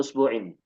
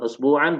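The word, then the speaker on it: أسبوعٍ: Makanya kita membacanya usbu'in. Bukan usbu'an, bukan usbu'un.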